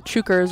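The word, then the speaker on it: Chukar: asked me if the chuckers are having a good game chucker is how you pronounce the name of their mascot apparently a bird native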